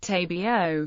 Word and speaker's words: Tobago: albera and eura although the English pronunciation is tabio rhyming with plumo SEO and Meo geography Trinidad and Tobago islands